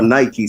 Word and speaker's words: Nike: Nike, the sign that we know as Nike or Nike, some people pronounce it as, its original, understanding, it was, my understanding is that it was a Greek goddess.